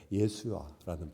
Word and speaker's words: 예수아: 여기서 주의 구원이라는 단어는 예수야라는, 우리로 말하면 예수아가 맞는 발음일 거예요. 예수아라는 발음입니다.